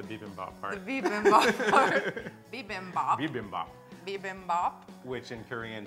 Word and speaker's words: bibimbap: how to make, which is, I can never pronounce it right. The Kinpira part or the Bibimbop part? The Bibimbop part. Bibimbop.